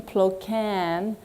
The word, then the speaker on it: Ploquin: my name it's plokan like yes she can get it don't look at the way it's spelled right so um today i